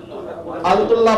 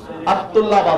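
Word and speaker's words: الطلاب: अल-तुल्लाब आपको बताया तो शमसी खमरी, अत-तुल्लाबा जुबान आके टकराई तो अल-तुल्लाबा लाम साइलेंट आता, अल-कमर अश-शम्स, ठीक है,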